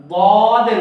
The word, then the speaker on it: ض: সেই হরফটা ছিল দদের উচ্চারণ, দদ।